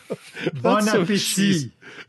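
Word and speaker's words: bon appétit: Bon appetit. That's the proper way to pronounce it.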